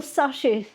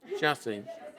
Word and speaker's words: chassis: Well, they would they would have a general sash, how do you say that word? Chassis.